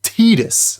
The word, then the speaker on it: Tidus: It's pronounced Tidus.